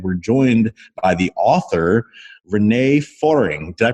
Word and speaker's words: René Föhring: libraries Credo and we're joined by the author Renee foring did I pronounce that right Renee hi there yes you